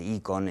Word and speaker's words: Eikon: Alguien me dice que se pronuncia correctamente Icon en griego, ¿no?